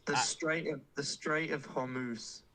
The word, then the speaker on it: Strait of Hormuz: I'd put it in I called it the Strata Hormuz. I had no idea how to say it. Go on, say it again for me, Wes. The Strait of Hormuz.